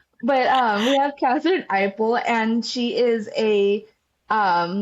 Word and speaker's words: Eipl: People want to pronounce the E, but it's actually um the E is silent even though it's in front.